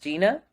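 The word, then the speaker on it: Zhina: Gina um it's also it's spelled z-h-i-n-a but pronounced Gina um and so that's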